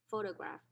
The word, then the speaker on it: photograph: textbook uses photograph okay the initial syllable is stressed so we use the small vertical line in the superscript position before the syllable for to indicate that this is stressed photograph how do i know